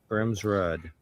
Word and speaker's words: Grimsrud: Grimsrud. It's Rudder. I called it said Rudder when I was younger, but it is technically Rude. So Grimsrud.